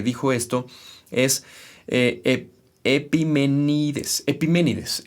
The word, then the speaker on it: Epiménides: Epiménides, eso es así como se pronuncia, Epiménides, el Cretense, año 600 antes de Cristo.